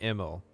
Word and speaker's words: Emil: He pronounces it Emil. Yeah, that's what I like. Todd said it somewhere, and I was like, wow, I didn't know that it was pronounced that way.